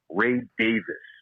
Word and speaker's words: Davies: that's the way that the guy actually pronounced his own name ray davis i was shocked so